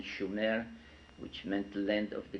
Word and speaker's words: Sumer: in a country, in a land called Sumer, in the correct spelling and pronunciation, Shumer, which meant land of the guardians, in southern Mesopotamia, which is today's Iraq.